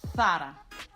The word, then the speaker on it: Zara: This very well-known Spanish fashion brand is pronounced correctly in Spanish from Spain, Zara. Zara. So it's not Zara, but it's Zara.